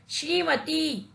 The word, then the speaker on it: श्रीमती: बड़ी की मात्रा लगाने पर शब्द का शुद्ध उच्चारण होता है श्रीमती और यह शुद्ध उच्चारण है की पिटाई कि